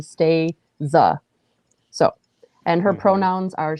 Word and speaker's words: Stasia: first name is spelt s-t-a-s-i-a so it's not pronounced like stasia like i thought it's actually stay za so and her pronouns